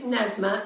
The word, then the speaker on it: Nesma: I think it's Nesma, N-E-S-M-A.